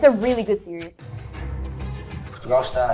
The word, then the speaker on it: Portugal: You say Portugal. You don't say the L, you say Gal, Portugal.